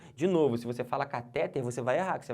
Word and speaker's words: cateter: mas tá errado tá não é cateter é cateter beleza essa aqui é a sílaba tônica de novo se você fala cateter você vai errar Que